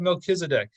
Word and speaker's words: Melchizedek: Then we have Melchizedek is how it's pronounced.